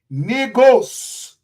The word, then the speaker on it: Negus: The other word, negos, which is spelled Negus.